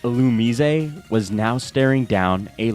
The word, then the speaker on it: Illumise: Okay, I just searched this up, but it's pronounced Illumise. Yeah, that's how the Pokemon dub pronounces it.